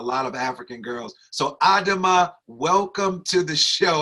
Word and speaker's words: Adama: But this sister carries the name of my daughter, my 16-year-old daughter, Samira Adama Nafia Shields.